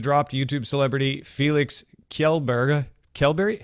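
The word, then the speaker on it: Kjellberg: it again well so the way I would say it I'm not an expert at Swedish yet but uh kelberry I think would be the pronunciation I'm sure many Swedish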